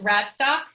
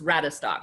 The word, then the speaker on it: Radestock: announcing that right okay your last name is rad stock it's rabbit stock so Hackney three syllables rat a stock but that's fine it's